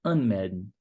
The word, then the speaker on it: anmelden: O verbo sich anmelden. An é um prefixo. Então, é um prefixo separável. Então, a sílaba tônica fica em cima do prefixo.